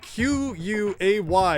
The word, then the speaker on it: quay: longer need to debate whether the word q-u-a-y is pronounced quay or if it's pronounced key i'm pretty sure key is correct but i mean what's wrong with that word why does it look like that if it's just gonna be pronounced key i don't know but